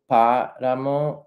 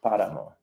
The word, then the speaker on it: páramo: Also, to point out, there is an accent on páramo over the A. Accents in Spanish just show the emphasis. So in this case, páramo, it's the emphasis on the first syllable, páramo.